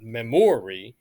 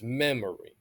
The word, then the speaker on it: memory: have to think about how we pronounce words right like tender so it's not tender right tender it's not memory right it's memory so you want to look at what's stressed and unstressed in a word right typically pronouns and